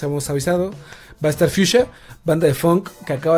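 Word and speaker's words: Fiusha: Fuchsia, no como se escribe mamonamente fucsia o correctamente, si quieren llamarlo. Fuchsia, así como, como se escucha, como suena en español. Como Fuchsia. Fuchsia.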